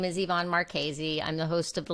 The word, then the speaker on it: Marchese: you to tonight's guest yvonne marchese did i pronounce that right it's a doozy it's marchese it looks like our cheese some people call me